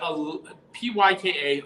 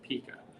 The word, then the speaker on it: Pyka: Well, my name is Pika, but Pyka. A lot of people throughout my life have mispronounced it Pika.